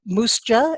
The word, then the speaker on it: MUUSJA: Ashley Herron who is the executive director of Moose Jaw as they pronounce it the Minnesota uu social justice Alliance